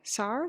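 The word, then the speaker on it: цар: Tsar? Tsar? Tsar. I think TS, right? Tsar. That's pretty much how you pronounce t. Kind of a combination of t and s.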